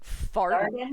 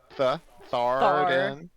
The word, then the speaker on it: Tharden: like fartin? Fartin? Thar, Jesus. Tharden. Den. Like the room in your house, a den?